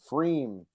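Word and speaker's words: Pfriem: Freem, is that how we decided that we pronounce this guy? Freem. It's got the P in front, so it's confusing.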